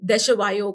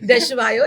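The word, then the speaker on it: Desjoyaux: तो मुझे ये स्विमिंग पूल कंपनी थी देशवायो करके, इसका नाम भी प्रोनाउंस करना बहुत मुश्किल है। इट्स DESJYAUX, ओके, है ना? ठीक है, हाँ, समझा नहीं बट ठीक है। देशवायो, इट्स अ हाँ।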